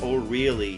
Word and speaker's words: Orly: like with alga Orly it's supposed to be pronounced or really really and uh every time